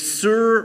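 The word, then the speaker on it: סור: the top thing but the best way to pronounce both of these root words is Sur ra now Sur just means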